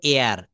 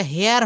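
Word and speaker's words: heir: যেমন এয়ার। এইচ ই আইআর এটা হেয়ার হওয়ার কথা ছিল কিন্তু এয়ার।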